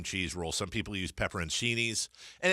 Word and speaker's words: peperoncini: the salami cream cheese roll some people use peperoncinis and it's peperoncini for those of you I've said this before and people go wood as a pepper oh you mean pepper Cheney's no dude look it up I've had this